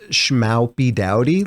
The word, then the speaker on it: Schmoopydady: Also, it's supposed to be pronounced Schmoopydady, like howdy, the OW.